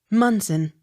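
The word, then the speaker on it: Monson: k t o n moncton accent on first syllable m o n s o n munson m o n t g o m e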